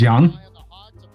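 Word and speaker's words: Xian: what are you saying X and an i and a n you're like what the that's normally pronounced Young I did so the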